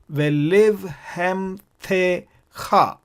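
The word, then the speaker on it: ולבהמתך: This is how the syllables must be divided. Ve live hem the cha. Ve live hem the cha.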